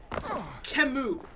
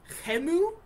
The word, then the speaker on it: Khemu: and therefore lame and I'm pronouncing it can Moo but in the game they pronounce it hemu like German hey move I don't butchering it